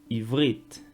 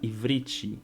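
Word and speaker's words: עברית: o nome da língua, o próprio nome da língua, Ivrit, Ivrit. Então, muitas pessoas vão pronunciar Ivrit, Ivrit. Então, tem esse acréscimo do i.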